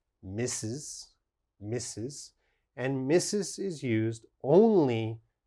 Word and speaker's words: Mrs.: a look the first one mrs mrs is pronounced mrs misses and missus is used only for married women